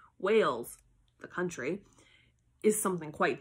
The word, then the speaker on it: Wales: For instance, human beings from Wales, that's a country, it's spelled W-A-L-E-S.